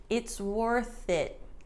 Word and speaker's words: it's worth it: For the pronunciation, notice that there's no pause. It's worth it. So we've got the SW, it's worth it, the TH and the I from it.